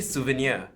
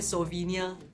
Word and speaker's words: souvenir: 'soo-vee-neer' - I would say 'soo-vuh-neer.' - Hmm! 'soo-vuh-neer'. But a lot of Singaporeans will say 'soh-vee-neer'. What if it's 'soh'? Because they would pronounce the S-O-U as how it is in Chinese S-O-U is like 'soh'.